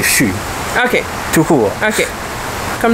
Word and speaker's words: chu: La première fois, tu l'as prononcé chut. C'est chut.